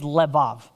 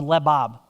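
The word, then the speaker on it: לבב: If you've heard me preach before, you've probably heard me mention that the Hebrew word for heart here is levav or lebab, depending on how you want to pronounce it.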